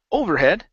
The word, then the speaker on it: overhead: um the word overhead the stress is at the end of the word instead of saying overhead okay it's overhead when